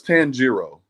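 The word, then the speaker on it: Tanjiro: man thank you sir and how do I pronounce that name it's tangero it's from it's an anime but tangero okay but it's tangero black truth black truth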